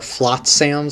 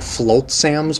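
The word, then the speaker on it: Flotsam: uh enemies here are flat sams i think they're actually it's actually pronounced like float sams but it's spelled f-l-o-t-s-a-m they just swim around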